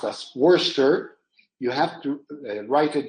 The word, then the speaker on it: Worcester: Like if you write what has to be pronounced as Worcester, you have to write it down as WORCESTER.